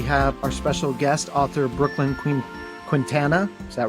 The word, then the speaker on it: Brooklyn Quintana: We have our special guest, author Brooklyn Quintana.